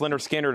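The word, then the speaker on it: Lynyrd Skynyrd: Leonard Skinner, pronounced Leonard Skinner is 36.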